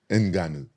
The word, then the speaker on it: Ngannou: all these year this I thought you pronounce it enanu oh I'm not even saying it right enanu oh my bad like that with deep voice enanu okay better so if